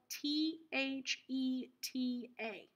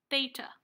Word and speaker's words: theta: of theta this is this is spelled th e ta theta theta this is a Greek